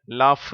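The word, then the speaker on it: laugh: ஜிச் சேரும் பொழுது அதாவது எல் ஏ யூ ஜி ஹெச் அந்த வார்த்தையிலே ஜி ஹெச் என்ற எழுத்து இஃப் என்ற உச்சரிப்பைத்தான் தருகிறது லாப் என்று சொல்லி அந்த இஃப் என்ற உச்சரிப்பை தருகிறது அதுபோல அடுத்த வார்த்தையிலும் சிஓ யூ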